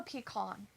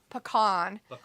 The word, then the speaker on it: pecan: I was just curious because usually it's a dialect thing, right?